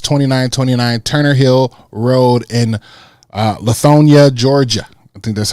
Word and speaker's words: Lithonia: Lithonia.